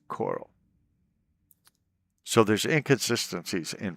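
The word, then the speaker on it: Chorrol: But there's a a town called Coral, which starts with a ch. Nobody ever calls it Shorel or Choral. It's always Coral.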